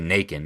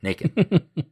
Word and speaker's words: Nacon: It happens at the threshing floor of, I say Nacon because it looks like bacon, so I assume it rhymes with bacon. Nacon.